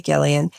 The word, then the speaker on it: Gillian: It's Hard G History, because it's Hard G Gillian.